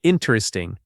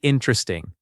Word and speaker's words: interesting: This word gets stretched by learners into interesting, four full syllables. Natives usually say interesting, three syllables.